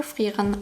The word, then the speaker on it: Frieren: Starting with the sounds, Frieren has the same issue as Eisen, where the vowel of the last syllable in German isn't really pronounced, but because Japanese doesn't allow for that, they pronounce it as ren, making it thereby a fuller vowel than it is in German.